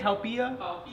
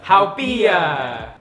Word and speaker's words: Haupia: Haupia. Haupia.